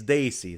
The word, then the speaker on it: desi: people who don't know the word desi which they under pronounce and desi it's Daisy so desi is a